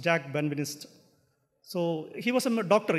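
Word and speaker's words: Jacques Benveniste: people approach this uh Jack has been Minister this English means spelling but in French I think the pronounced Jack benvinist so he was a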